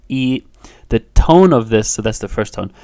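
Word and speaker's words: 一: the character for one which is naturally pronounced e the tone of this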